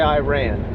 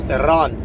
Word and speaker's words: Iran: Apparently Iran, you got to say it right. Don't say Iran. Hood uh uh un uncultured folks say Iran. It's Iran.